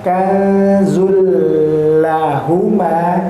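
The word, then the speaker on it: كَنزًا لَّهُمَا: Tapi di sini tanwinnya bertemu huruf lam itu termasuk huruf-huruf yang tanpa disertai ghunah. Maka kanzul lahuma ya. Jadi bila ghunah tidak dengan ghunah. Jadi tidak dan pula tidak ada ee udara yang keluar dari hidung kita. Jadi ketika kita membaca pun mau hidungnya dipencet dia juga masih tetap bisa membaca kazulah. ya masih bisa terbaca bacanya bagaimana panjangnya sama sebanyak dua harakat juga itu tadi kanzulahuma terus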